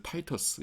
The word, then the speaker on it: Titus: Titus, 타이터스 영어로는 그렇게 하는데요.